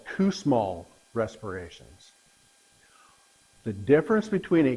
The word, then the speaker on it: Kussmaul: Kussmaul. Spell it?